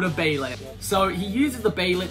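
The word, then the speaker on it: Behelit: It's called the baylet. Now, the last two videos I've been calling it a behilt. I know I'm wrong.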